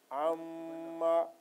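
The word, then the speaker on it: عَمَّ: So the sound will be from nose, nasal sound, and the duration will be little longer. So this name will be pronounced twice because of shad. Amma, amma, amma, yatasaalun, yatasaalun, anin nabail azim, anin nabail azim.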